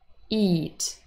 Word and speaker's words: eat: minimal pair again it eat so it the pronoun has a short e sound it but eat eat food eat the verb long e so they are not